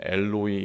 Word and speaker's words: 엘로이: 있잖아요 사투리들이 있지 않습니까 예수님께서 특별히 그 아람어를 사용하셨는데 거기서는 엘로이 엘로이라고 발음을 합니다 우리가 그 마태복음과 마가복